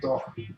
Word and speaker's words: Doig: Doig. I'm going to call it Doing. Doig. That's how I pronounce it now, but it's actually Doc. That's how you say it in Scottish.